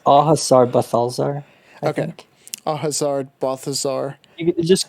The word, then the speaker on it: Au Hasard: the how do you say um it's it's ahasar okay Hazard Balthazar just call it buffaloes there